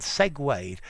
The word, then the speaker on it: segue: During the long interview, the man and the woman segued from a professional discussion to a more personal topic.